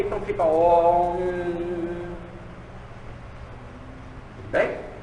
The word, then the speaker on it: Aum: Mas na hora de escrever, se escreve Aum, para se escrever, mas se pronuncia Om. Como as pessoas eram simples, né? Muitas não sabiam ler e tinham de repetir o Aum, achavam que era Aum com a U-M, né? E não Om, e não se pronunciava